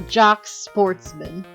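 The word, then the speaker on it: Jacques Portsman: I'm Jock Sportsman, prosecutor. Now, the thing is that some people say Jock, like, because that's a traditionally French name and you don't really pronounce the S.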